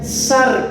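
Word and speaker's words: σάρξ: Biblia se le llama es una palabra hebrea que se se pronuncia sar s a r x Esa es la carne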